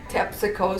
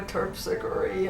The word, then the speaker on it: Terpsichore: I was just a little girl, and I did not like the way they said Tepsico Street for Terpsichore, and you know, they mispronounced the names.